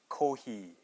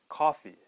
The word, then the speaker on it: coffee: Okay, well the first part is we don't have the true O sound. We don't say ko. We have the flat O sound, which is ka.